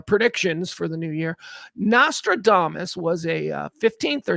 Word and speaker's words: Nostradamus: Nostra Mish Michel Nostradamos is the correct pronunciation. Uh, Nostra, I used to play Nostradumbass when Kelly and I would do our uh our predictions for the new year. Nostradamus was a uh 15th or 16th century.